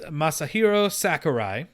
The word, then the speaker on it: Masahiro Sakurai: the gods so there was an interview with masahiro sakurai you said it right i did wow that